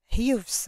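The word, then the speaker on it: Hughes: شخص اسمه جرام اوكي اللي هو هاي الاتش لا تلفظ هيوس اوكي هيك كان اسمه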